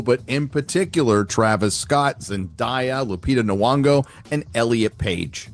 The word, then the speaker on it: Zendaya: Zendaya, it's not Zendaya. You purposely mispronounce people's names when you don't like them.